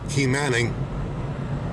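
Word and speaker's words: Quemahoning: Quaymahoning is pronounced Key Manning.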